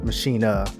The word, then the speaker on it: Maschine: of their flagship hardware the machine or maschine as the europeans would pronounce it anyways creator base was